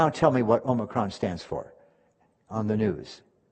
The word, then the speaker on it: Omicron: If you listen to the news, there are some people, especially the physicians now, and the scientists are calling the variant Omicron, which is the proper pronunciation.